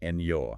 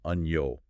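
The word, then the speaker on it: año: sounds I like it think about the word ano meaning year you don't pronounce it Eno right but rather Uno almost like one flowing sound oh I hear it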